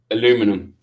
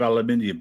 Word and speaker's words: aluminium: Aluminum. Yes. Instead of aluminium, but it's spelled the same.